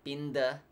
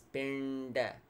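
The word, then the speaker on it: piṇḍa: buh sound pinned asana it's not pinda it's been that again the tongue goes up pinned asana good Tarzana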